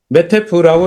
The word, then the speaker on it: 메타에프: 저희 회사는 메타에프라고 쓰고 메태프라고 읽습니다.